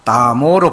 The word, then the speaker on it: 나모: 그리고 나무 아미타불 하는데 여기는 다 나모로 바꿔놨어요. 나모. 그 산스크리트어로 발음이 NAMO 그러니까 나모가 맞아요. 나모가.